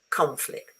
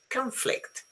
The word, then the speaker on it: conflict: As a verb, the stress falls on the first syllable. Conflict. As a noun, someone has already got it, falls on the second syllable. Conflict.